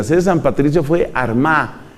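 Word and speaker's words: Armagh: de San Patricio fue Armada que se escribe con gh al final San Patricio desde la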